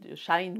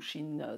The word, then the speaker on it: Shein: Alors elle me montre sur Shein, pour ne pas citer Shine ou Shein, ça dépend comment vous le prononcez, pour ne pas citer